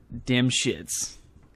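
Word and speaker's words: Dymshits: sorry I can't help but laugh at that damn shits it's spelled d-y-m-s-h-i-t-s damn shits anyways careful reading of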